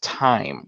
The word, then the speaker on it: thyme: When I'm around, for me, I pronounce it thyme, but when I understand, it's pronounced time with a silent H. It's a silent, yeah. It's a hard T sound, yeah.